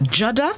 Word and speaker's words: judder: the day this morning it's spelled j-u-d-d-e-r it's pronounced jada and it is a verb which means to